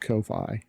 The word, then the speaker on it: Ko-fi: Even if they're like giving them away, you go through Ko-Fi or Coffee. I've always pronounced it coffee, but I've heard it's pronounced Ko-Fi.